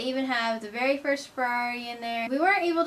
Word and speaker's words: Ferrari: We went to Modena to view the Ferrari Museum. You gotta pronounce all 3 of the R's according to the Italians.